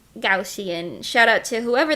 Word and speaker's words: Gaussian: you living oh my I've been pronouncing it wrong my whole life I've been saying gausin to go goshan goshan I see yes me too me too I I said it wrong for so many years like at least a decade until I learned the that it was Gussy and shout out to